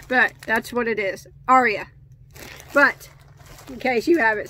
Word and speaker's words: Arya: I had actually had to look it up and see how to pronounce that person's name, but that's what it is, Arya.